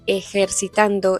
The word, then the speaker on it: ejercitando: A veces es fuerte, como aquí en la palabra que usa para decir ejercitando, ella pronuncia un eh fuerte esa ese sonido ejercitando o bueno, yo lo